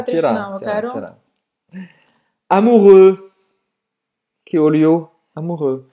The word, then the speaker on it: amoureux: Não vai pronunciar esse x no final.